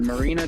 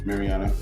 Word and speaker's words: Mariana: exploring the ocean you know we found the marina trench the deepest part of the ocean that we can actually go to mariana yeah yeah i think yeah i pronounced the